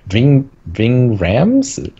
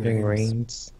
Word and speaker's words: Ving Rhames: Ving Rhymes? Is that how do you say his name? Ving Rhames.